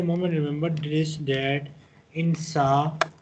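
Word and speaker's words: ث: Just at the moment, remember this, that in Sa, we pronounce the alphabet Sa by touching our the tip of our tongue to the bottom of front upper two teeth.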